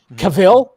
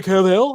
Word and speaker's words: Cavill: we didn't know how to pronounce his goddamn name cavil we always like Henry Caville I called him Caville for a long time